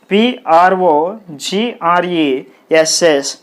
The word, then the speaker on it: progress: syllables in this word pro and grace pro grace progress is a noun so the stress is on the first syllable that means the stress mark should be put on the first syllable pro like this okay understand